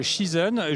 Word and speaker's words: Shizen: sur un stand Shizen, je ne sais pas si ça se prononce comme ça, où vous allez parler de management de la performance. À vous, Xavier. Et ça se prononce effectivement bien comme cela, Shizen.